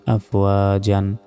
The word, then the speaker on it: أَفْوَاجًا: ওয়া, জিম জবর জান, আফওয়া জান। 2 জবরে থামলে 1টি জবরের উচ্চারণ হয় না।